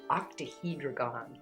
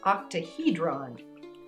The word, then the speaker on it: octahedron: pretty okay chinese fluorite octahedragon octahedron said it wrong gave it an extra syllable in there you have to